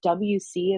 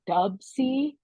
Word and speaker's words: WC: Ted but I guess I was saying his name wrong for years I kept saying WC in the Mad Circle and then my husband's like do you mean dubsy I go I don't